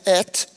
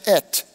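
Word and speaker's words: את: Porque essas duas letrinhas que você pronuncia et é um alef e um tav. A primeira e a última letra do alfabeto hebraico se pronuncia et.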